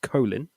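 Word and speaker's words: Kolín: That's pronounced Kolin.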